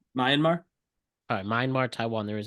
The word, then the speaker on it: Myanmar: I believe Taiwan uhu the myamar earthquake it's Myanmar but yeah oh sorry I apologize myar it's okay how do you pronounce it Myanmar all mmar Taiwan there